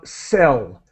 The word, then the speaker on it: cell: with your pronunciation of cell and so it's a it's an S sound just like the verb to buy or sell something the pronunciation is a